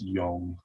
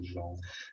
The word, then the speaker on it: Jong: De Jong, if I've pronounced that right. It's Young as opposed to Jong.